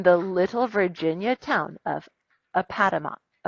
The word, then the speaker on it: Appomattox: Grant in the little Virginia town of Appomattox.